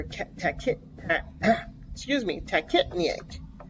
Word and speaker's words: tachypnea: to say they're kept tech it excuse me tech it me eight it's how you say it okay so see